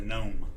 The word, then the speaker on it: gnome: gone oh there's a gnome well I said Jones you said gome the g is silent I don't remember that